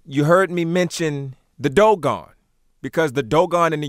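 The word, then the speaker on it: דגן: D-G-N, often pronounced Dagon, but of course we're looking at Dogon. Now, how do we say that this is Dogon?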